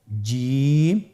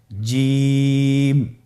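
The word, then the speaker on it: جيم: চেষ্টা করুন হয়ে যাবে এর মাখরাজ হলো জিহ্বার মধ্যখান তার বরাবর উপরের তালুর সঙ্গে লাগিয়ে উচ্চারিত হয় আপনারা পিকচারে ছবিতে দেখতে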